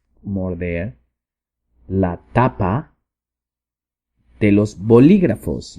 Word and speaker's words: bolígrafos: la tapa de los bolígrafos. Y aquí tenemos otra palabra para decir lapicera, es bolígrafo, B-O-L-I, acento en la I, G-R-A-F-O-S, bolígrafos.